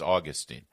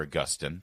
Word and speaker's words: Augustine: Most Protestants will joke that their favorite Catholic was Augustine, or Augustine, depending on your pronunciation.